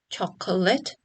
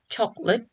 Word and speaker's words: chocolate: The second one, which tends to be reduced from 3 syllables, chocolate, to 2 syllable, chocolate.